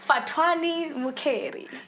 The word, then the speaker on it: Fhatuwani Mukheli: Ladies and gents, the one and only Fhatuwani Mukheli.